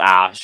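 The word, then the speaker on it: Æ: of waffles saying like in the greek alphabet x xae it's pronounced ash and then whatever is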